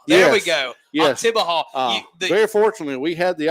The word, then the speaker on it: Oktibbeha: Do you know how to pronounce it? Oktibbeha. Oktibbeha. There we go. Yes. Oktibbeha.